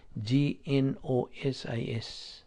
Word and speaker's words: gnosis: So, ang gitudlo nga pulong sa Dios, sa Griego nga pulong ginganlan na og gnosis, Gnosis. Silent G na, gnosis.